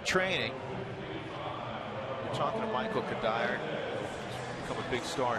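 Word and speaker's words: Cuddyer: the last name, and it is often mispronounced. I've been French, Courtier. I've been Spanish with like courier or something, you know. I've been Cudger. I've been just about everything you can do.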